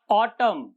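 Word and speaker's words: autumn: पहला पढ़ेंगे हिम, ऑटम, column, dam. इनमें क्या है, एन से पहले एम आया है, एन से पहले एम, तो वो साइलेंट हो गया।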